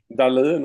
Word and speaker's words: Dahlén: Dahlin, I Yeah, think. Dahlin. Yes, Yes. but Mm. yeah, it's hard to pronounce.